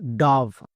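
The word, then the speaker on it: dove: এখানে দেখো ও এর পরে ভিই আছে তাই আকার হবে। যেমন ডি এর জন্য ডো, ও এর জন্য আকার। কেন? কারণ ও এর পরে ভিই আছে তাই ও এর জন্য আকার। বোঝা গেল? ভি, ভি এর জন্য ভো এবং শেষের ই সাইলেন্ট, তাহলে এর উচ্চারণ ডব হবে না। অনেকেই ভুল করছো, আজকের পর থেকে আর ভুল করবা না। ওকে, তাহলে এর উচ্চারণ কি হবে? ডাভ।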